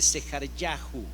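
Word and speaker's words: זְכַרְיָהוּ: Zacarías como nombre teóforo en hebreo tendría que pronunciarse sejar yahu vea usted el Primer Ministro de Israel hoy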